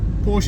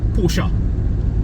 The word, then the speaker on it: Porsche: Porche porsa porsa I said pors yeah Porsche Porsche is the incorrect pronunciation it's the correct pronunciation is apparently porsa did you used to say Porsche I used